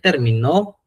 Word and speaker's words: terminó: Él terminó el examen. Recuerden la sílaba tónica. La sílla tónica era donde sonaba más fuerte y aquí donde suena más fuerte pues donde tiene el acento.